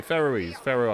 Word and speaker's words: Faroe: Pronounced like an Egyptian ruler. Okay, Faroe Islands.